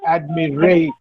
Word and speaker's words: admiration: Admiration. So, the stress should be on re. Admiration.